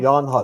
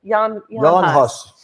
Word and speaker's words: Jan Hus: John Huss. Is that how you say it? John Huss? Okay. Jan Hus. It's like written weird. Yeah. Jan Hus.